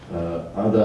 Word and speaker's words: Ada: I I would say Ada has to be pronounced as in Russian a means H uh